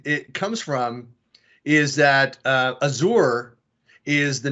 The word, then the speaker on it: Azure: So in French, the people who speak French would say Azure, and we would be like, oh, the Americans say Azure, kind of a thing. Yeah. So it was more of a cultural or a locality type of difference.